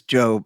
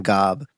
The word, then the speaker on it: GOB: In Arrested Development, one of the main characters says Job and it's spelled G O and everybody always calls him Gob, but he's like it's it's job.